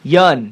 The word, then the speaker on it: Yeun: And everybody who's listening out there, now you know how to pronounce his last name. Yeun.